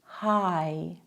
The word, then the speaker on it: Hai: Der Laut I klingt ungefähr wie das englische Wort Ei. Zum Beispiel Mais, My, Hi.